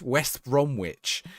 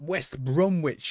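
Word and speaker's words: West Bromwich: The other one is West West Bromitch. If you say it like that, everyone gets furious. West Bromitch. Cuz that's literally how it's written. Everyone goes, "It's it's not West Brom Witch, you muppet."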